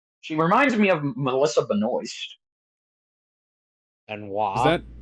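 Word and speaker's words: Benoist: reminds me of Melissa Beno and is that is that how it's pronounced or is it pronounced Ben was because I've always thought it was pronounced Ben was no it no it's Melissa Beno huh B noise is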